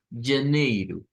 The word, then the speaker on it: janeiro: Entonces, digamos, janeiro. Janeiro. Muy bien. Nótese que esta no es como la J de nosotros, vea, porque nosotros diríamos ja, vea, y en ese caso suena como una Y, vea, pero el sonido